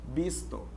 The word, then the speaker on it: visto: Porque, afinal de contas, o V tem som de B no espanhol. Visto.